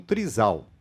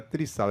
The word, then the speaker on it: trisal: Entretanto, causa um choque muito grande aqui, até nós estamos falando no trisal, que eu não sabia nem pronunciar, era trisal, é trisal, né? Trisal. A pronúncia.